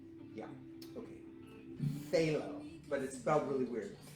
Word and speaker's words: phthalo: a phthalo blue it's p-h-t-h-a-l-o it's the weirdest spelling in the world but we pronounce it phthalo for the longest time